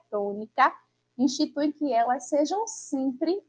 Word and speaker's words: tônica: também representam aí sílaba tônica nas palavras. E a palavra tônica, que é trissílaba, que tem aí três sílabas, a gente consegue identificar, não é, que a sílaba tônica é a sílaba to.